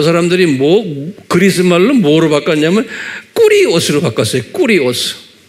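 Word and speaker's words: κύριος: 이게 꾸리오스 그래요.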